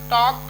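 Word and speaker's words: talk: और उसके बाद टॉक, के पहले आया तो भी साइलेंट हो गया।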